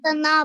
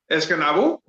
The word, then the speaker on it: Escanaba: Escanaba. Yeah. Pronounce Escanaba. Pronounce what? Escanabo? Escanave.